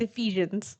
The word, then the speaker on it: Ephesians: It's Ephesians. Ephesians. Okay. We're gonna have to run through those, too. It's pronunciation.